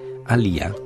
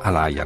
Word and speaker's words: Aaliyah: un significato molto preciso ali ha così si pronuncerebbe nelle sue lingue originali solo che gli americani dicono alaia naturalmente ali a sé